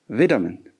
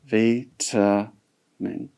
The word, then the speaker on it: vitamin: And another word we have is vitamin. Vitamin. Okay? In American, this is pronounced as vitamin. Okay? How do you pronounce it? Vitamin in American style, and in British, it's vitamin.